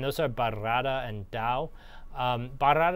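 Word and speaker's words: Bairrada: are burrata and Dow bar Arad is fun because you get to roll your R's they're kind of central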